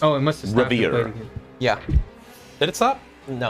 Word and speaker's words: Wravyre: pronounced Oh, it must have stopped. Wravyre.